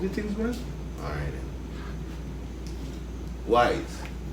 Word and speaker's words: YZE: Wise. Not YZE. Right. Or YZE. Or whatever it is. YISE. No. Tell them It's what it wise. Wise. If you pronounce it, you would get wise. And if you sound it out. But in the know, Yeah, if you sound it out, it's actually wise and YZE.